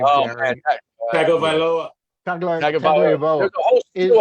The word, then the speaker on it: Tagovailoa: Is Tulia, how do you pronounce his last name, Gary? Tagovailoa.